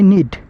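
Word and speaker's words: knead: এখানে মনে রাখবেন কেটা উজ্জ্ব থাকবে, এর উচ্চারণ হবে নিড অর্থ মাখানো, আর ফ্লাওয়ার অর্থ আটা বা ময়দা।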